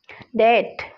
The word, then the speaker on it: debt: जितने भी आपको रेड बी दिख रहे हैं ये सारे साइलेंट है यहाँ। DEBT, क्या बोलेंगे इसको? डेट, डेट।